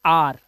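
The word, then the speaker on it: our: ऐसे ही इसे पढ़ते हैं आर। ध्यान रखना, इसे आवर नहीं पढ़ते, आवर माने तो घंटा होता है। ठीक है, इसे पढ़ेंगे आर, आर माने हमारा।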